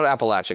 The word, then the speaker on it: Appalachia: We always tell people like, think of it as like I want to throw an Appalachia.